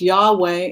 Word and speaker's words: Yahweh: B and a J, I've always read that as Baruch, or blessed, and then Yud K Vav K, which is pronounced Yahweh in English, but we say Yud K Vav K, Yud He Vav He, which is the name of God.